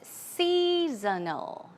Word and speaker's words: seasonal: Here, the pronunciation is seasonal, seasonal, seasonal. It's more like snow, seasonal.